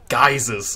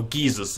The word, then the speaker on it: geyser: Geysers, or geysers, if that's your pronunciation.